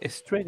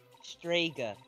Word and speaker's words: Strega: Or is it Sprega exclusive to sitcom cast members? None of your business. I command you to speak, coward. You're pronouncing it wrong. It's Strega, not Strega. Not that hard.